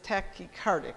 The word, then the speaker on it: tachycardic: heart is generally in good shape but is tachycardic is how you say it yeah the tachycardia